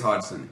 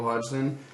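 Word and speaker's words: Hodgson: to pronounce this I I always say like hogden hod Hodson hog I think it's Hodson yeah but uh go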